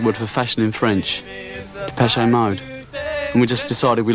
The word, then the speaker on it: Depeche Mode: Depeche Mode. And we just decided we liked the sound of that name. And we chopped off the accent and we just kept the pronunciation.